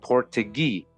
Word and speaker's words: Portuguese: like I said said more precisely it was portugee as they themselves pronounced it they claimed descent from